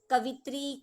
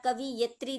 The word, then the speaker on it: कवयित्री: Most of बच्चे क्या करते हैं? कवित्री कवित्री, आप लोग उसका प्रोनाउंसिएशन कवित्री करते हो तो वो कवित्री ही लिखते हो, या कवियत्री लिख देते हो। बाकी इसका प्रॉपर प्रोनाउंसिएशन जो होता है, प्रॉपर राइटिंग जो होती है, वो यही होता है, कवयित्री, कवयित्री।